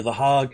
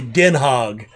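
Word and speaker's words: Den Haag: was that city called the hague or the hog it's actually denhog i have to go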